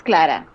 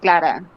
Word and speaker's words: Clara: Yeah, it's Clara. Clara. It's just Clara.